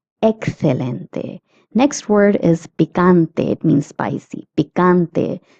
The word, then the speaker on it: picante: Next word is picante. It means spicy. Pante. The ca is pronounced as ka.